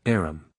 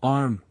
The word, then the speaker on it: arm: He pronounced it arum. "An arm, you goose.